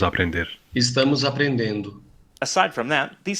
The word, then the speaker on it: estamos: In this word, you can hear the difference in the S sounds, sh in European Portuguese and s in Brazilian Portuguese.